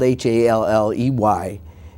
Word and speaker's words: Halley: Well, in fact, it is spelled Halley, and it was his family in England now says, the people that have passed, descendants have said that it was Halley.